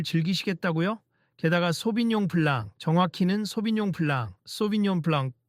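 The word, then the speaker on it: 소비뇽 블랑: 게다가 소빈용 블랑, 정확히는 소빈용 블랑, 소빈용 블랑 또 발음이 우습게 들리던데 제대로 말해보시죠.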